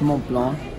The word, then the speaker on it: Mont Blanc: under not in the wrong okay French is Mont Blanc okay he's got the right pronunciation as I speak French in it really